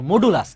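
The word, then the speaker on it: modulus: এটা হচ্ছে মডুলাস operator, মডুলাস। এই যে মডুলো লেখছে তো মডুলা, এটা উচ্চারণ মডুলাস করে আর কি।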